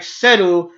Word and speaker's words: Cell: And Cell is like Seru, but it's so fast that it sounds like you're saying Cell.